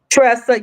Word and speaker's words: Tresa: So, listen, if y'all are not following Tresa, and am I saying your name correctly, Tresa? Yes, I am saying it correctly.